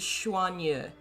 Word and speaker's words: Xuanyu: I think it's Xuan. X is like a SH sound.